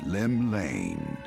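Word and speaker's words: Llymlaen: drawn The Gaze of the nation's Patron deity Lim Lane oh that's how you pronounce it whoops not bad what Rome shaking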